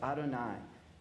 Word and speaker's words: Adonai: my most intimate name y he V what we pronounce as Adonai you can have all